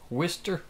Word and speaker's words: Worcester: beaver bottom whisker wildcat Worcester Worcester I can't pronounce our oyster W is ter mm-hmm it's a late